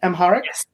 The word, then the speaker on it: Amharic: with this book which comes from the uh Amahharic language. Am I pronouncing that correctly? Amharic Amharic text which is darkness is a gracious